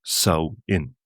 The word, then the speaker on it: Samhain: So, the first thing is that that really doesn't make too much sense at all in its modern context. A guelga we call the month sin, pronounced sain.